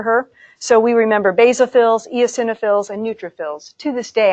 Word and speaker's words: eosinophils: in everyday work no yo sinha fills is how you say that eosinophils yo sin o fills I worked with an